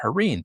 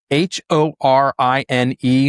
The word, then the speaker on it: Horine: All right, back to our guest today, the head of reindustrialization of variable, Harne.